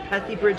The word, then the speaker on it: Pethybridge: Now, am I pronouncing Pethybridge correct? Absolutely.